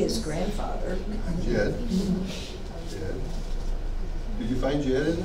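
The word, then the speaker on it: dźěd: Jed. Did you find Jed in there? J. S D Z. J. How would you pronounce it?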